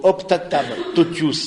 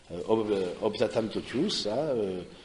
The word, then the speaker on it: Optatam totius: Et donc, au Optatam totius, c'est comme ça se prononce, le latin c'est très facile de ce point de vue-là, Optatam totius, et donc du coup, et c'est au numéro 11.